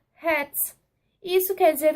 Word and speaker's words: Hertz: Isso aí significa o Hz, que na pronúncia certa fica Hertz.